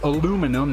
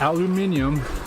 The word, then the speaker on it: aluminum: The word aluminum, which is pronounced correctly, aluminum, not aluminium, was originally discovered, or